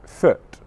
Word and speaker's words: foot: them both okay mm can you see there how with mm my lips open slightly more for the short sound mm okay food food foot all right so the